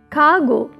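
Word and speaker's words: cargo: कार्गो, आर is silent here, कार्गो, जहाज में लादे जाने वाले सामान को कहते हैं कार्गोस।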